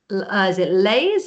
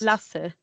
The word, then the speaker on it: Lasse: Is it Lays? Is it Lasse? How's it pronounced? Lasse. Hi.